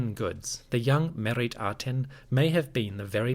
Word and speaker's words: Meritaten: Adapting that to the name Meritaten, we may have a pronunciation closer to Meriyati or simply Mayati. At the time that Akhenaten ruled, the Egyptian spoken language was showing a distinct shift in the pronunciation of certain sounds. The R sound was moving closer to an A or an I, and the T, as in merit, was beginning to drop off from certain words.